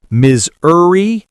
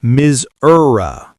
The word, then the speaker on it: Missouri: Two versions. Miserie or Msura.